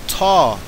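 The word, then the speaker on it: ת: That large letter that begins Tamim is called Ta or Tav. Ta seems to be the ancient pronunciation.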